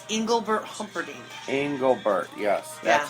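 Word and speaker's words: Engelbert: In Englebert, yes, that's how you say it.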